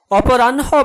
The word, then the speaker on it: অপরাহ্ন: চিহ্ন বানানে হ এর সাথে দন্ত ন হওয়ায় আমরা উচ্চারণে NH দিয়ে লিখেছি। অপরাহ্ন বানানে হ এর সাথে মূর্ধন্য যুক্ত হওয়ায় আমরা NH দিয়ে চিহ্নিত করেছি।